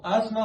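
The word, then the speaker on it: asthma: अस्थमा में हम लोग इसको अस्थमा बोलते हैं। टी साइलेंट होता है।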